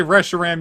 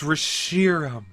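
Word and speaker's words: Reshiram: i pronounced ev rashiram if you say resharam you're a stinky pinky it's based on the word shiro meaning white rishirom resharam doesn't sound noble enough it just sounds like wrestling no it's it's it's rishiram sheer like sheer gossamer silk on this furry wonderful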